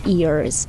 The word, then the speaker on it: ears: льд як лід Eyes а вуха - це як дівчина іa в українській мові Ears Ears your Ears C your